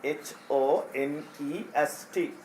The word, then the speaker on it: honest: H අකුර මුලින් තිබ්බා කියලා අපි H අකුර pronounce කරන්නේ sound කරන්නේ නැහැ. එතකොට එයා පටන් ගන්නෙ sound එක O.